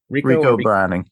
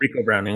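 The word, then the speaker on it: Ricou Browning: And lastly, we have Riku Browning. Is that how you pronounce his first name? Rico Browning. Yep. Rico Browning.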